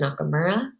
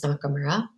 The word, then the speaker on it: Nakamura: I would say that most of my students call me by my last name, which is Miss Nakamura. So that's like knock and then so Miss Nakamura.